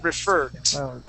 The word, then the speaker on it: referred: me a D sound here is saying referred and using a t so we want to say referred okay referred good one